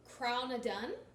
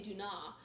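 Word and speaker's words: Craigh na Dun: I keep saying it wrong, but it is Crownadun. Crownadun. And there is another character in here. I absolutely cannot say her name for the life of me. But Crownadun, I always want to say Duna. Crownadun is the circle of stones.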